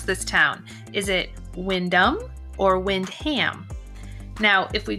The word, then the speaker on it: Windham: Today I'm going to take you on a driving tour of Windham, or is it Windham?